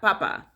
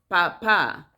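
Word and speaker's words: papá: the last a um because the common english word is papa papa but in spanish it's not papa in spanish is papa or is not mama is mama because it has a little the little accent in the last a so mama the papa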